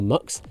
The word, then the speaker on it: Mx: vary prefers the one spelled MX pronounced mix or MX the school said it